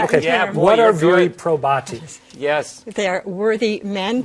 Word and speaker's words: viri probati: We are talking about viri probatus. Is that the right? Am I pronouncing it a long time? You are right. Okay. Yeah, boy, what are viri probati?